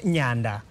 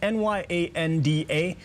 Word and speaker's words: Nyanda: And she is not Nyanda. Don't say it like a shall. It's not, it's N-Y-A-N-D-A, but it's Nyanda.